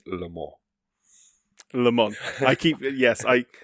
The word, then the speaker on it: Le Mans: think you've already got there that it is pronounced Lemon. Lemon. I keep Yes, I I keep going between Lemon and Lemons, but it is Lemon.